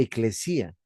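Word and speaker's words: ekklesía: Como el Nuevo Testamento se escribe en griego, lo correcto es llamarle eclesía.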